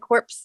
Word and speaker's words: corps: the dead quarterback yeah it's spelled dead corpse but it's like like the way like marine corps so you and it's